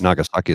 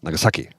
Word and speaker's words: Nagasaki: It's not Nagasaki, it's Nagasaki.